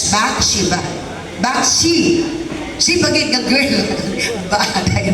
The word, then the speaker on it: Bathsheba: The word Bathsheba, first nga syllable sa Bathsheba, Bath, good siya. Bath, B-A-T-H, Bathsheba.